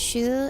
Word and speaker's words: Shu: We're going to make a joke about Shu and then realize his name is one syllable and you'll see yourself out now.